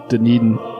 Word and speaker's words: Dunedin: I believe it's Dunedin. Dunedin? That's how you say it, yeah.